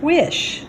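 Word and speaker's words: Wyche: Quite a few okra, a couple of eggplants, some cherry tomatoes, and then I Googled how to pronounce this guy's name, W-Y-C-H-E, and it's pronounced Wish.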